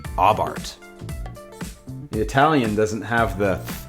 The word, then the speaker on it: Abarth: It's pronounced Abarth.